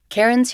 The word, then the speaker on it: Cairen: My name is Karen and just to provide the spelling of